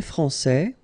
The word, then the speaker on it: français: So français, here you get this final S that you don't pronounce, so français, and then when you put this final E here, you will get française, okay.